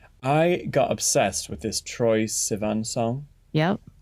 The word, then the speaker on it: Troye Sivan: I got obsessed with this Troye Sivan song.